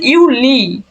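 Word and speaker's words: Juli: আউগোস্ট এই যে ইউ জুলাইকে ওরা বলতেছে ইউলি ইউ লি দেখেন ওয়াই এর পরিবর্তে জাস্ট ই দিছে অর্থাৎ ইংরেজিতে যাকে বলি আমরা আই জুনের পর জুনের এখানেও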